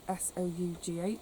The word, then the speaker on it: sough: apart from the wind soughing or soughing in the trees. I was going to say, I always say soughing because it's spelled S-O-U-G-H, I think, but someone said it's pronounced sough.